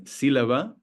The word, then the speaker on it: sílaba: We know that the stress falls on the U in penúltima and on the I in sílaba because of the accent mark.